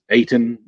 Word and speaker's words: Ayton: Ayton, is that how you DeAndre say it? Ayton? Yeah, Ayton.